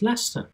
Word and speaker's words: Leicester: But then again, Britain is quite famous for names like that, just writing too many syllables and then deciding not to pronounce them when it comes to speaking. So Leicester is pronounced Leicester, easy as pie.